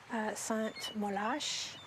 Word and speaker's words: Saint-Molaise: Ils disent, c'est écrit Saint-Molaise, mais en fait, ça se prononce Sainte-Molache.